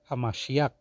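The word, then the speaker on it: המשיח: anointed all right now it's not like that you have to say it is actually hamashiach that's how you say it in Hebrew tongue all right now when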